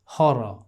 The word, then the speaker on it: horror: देखिए हॉरर, हॉरर, हॉरर, हॉरर नहीं कर रहे, हॉरर नहीं कर रहे। तो देखिए 3 R में से सिर्फ एक R का प्रोनाउंसिएशन हो रहा है और वो ये है।